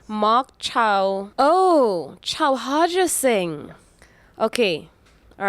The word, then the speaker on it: Chauharja Singh: I like to be able to pronounce people's names. All right, Marc Chow. Oh, Chauharja Singh.